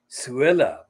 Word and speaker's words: Suella: And because of her name, Suella, it rhymes with Cruella.